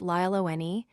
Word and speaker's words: Lallane: Lallane, pronounced Lyle O'Nee, is a 6'7 Bronx native who signed as an international free agent out of the Dominican Republic in 2021.